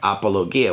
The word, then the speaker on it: apologia: This word is a word pronounced, well, let's see here. Here's how we would say it in English. Apologia.